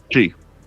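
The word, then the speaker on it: Twi: Chi. Chi. T Wii is how it's spelled, but it's pronounced chi.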